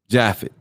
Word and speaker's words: Japheth: either shem ham or japheth or jaffa prop uh popularly pronounced jaffet so uh genesis 9